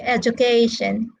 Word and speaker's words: education: And then the three syllable verbs are stressed on the first syllable, like educate, allocate, all right? And the four syllable words are stressed on the third syllable.